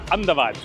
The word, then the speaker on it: Ahmedabad: let's explore a bit Ahmedabad which is not pronounced like this uh in guati they cut a lot the ball so it's will be like andad and the BV andad